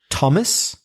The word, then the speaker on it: Thomas: often I'm talking about words like Thomas but th o mas